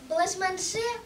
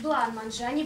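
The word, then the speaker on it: бланманже: кушайте гости дорогие флеш-манше мой Ваня как для самого Варя наготовил ты неверно говоришь лукере правильно говорить бланманджане блашманджи куча Егоровна А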